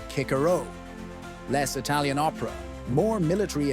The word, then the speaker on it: Cicero: Cicero pronounced kickaro.